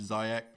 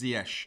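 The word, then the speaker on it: Ziyech: pronounce correctly yes yeah that was zh zayek but yeah apparently it's zyesh so that's what we're going with um at eight mil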